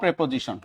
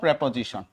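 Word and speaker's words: preposition: নো প্রেপোজিশন, টপিকের নামটা কি, নো প্রেপোজিশন।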